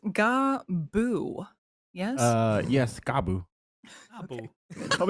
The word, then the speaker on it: Gabu: it's pronounced Gabu.